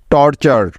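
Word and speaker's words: torture: একটি word pattern আর এই word প্যাটার্নটির উচ্চারণ সবসময় হয় চার এর মত মনে আছে তো সবার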